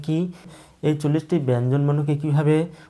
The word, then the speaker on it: ক: এখানে ক, এই ব্যঞ্জন বর্ণটি উচ্চারণ করতে গেলে এই কয়ের সঙ্গে একটি অ ধ্বনি উচ্চারিত হয়। আপনারা উচ্চারণ করুন ক ক, কয়ের সঙ্গে একটি অ ধ্বনি উচ্চারিত হচ্ছে। এই কয়ের সঙ্গে অ ধ্বনি যুক্ত হওয়ায় আমরা কয়ের সঠিক উচ্চারণ পাচ্ছি। ক থেকে যদি অ ধ্বনি বাদ দেওয়া হয় তাহলে কয়ের উচ্চারণ আমরা পাবো না।